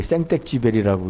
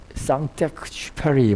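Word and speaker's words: Saint-Exupéry: 프랑스의 작가인 이 사람 이름이 너무 어려워서 발음하기가 어려운데 그냥 한국 사람들이 생텍쥐베리라고 이렇게 해야 합니다. 뭐 프랑스어로는 쌍텍쥐페리 뭐 이렇게 해갖고 지금 저는 못 따라 하겠더라고요.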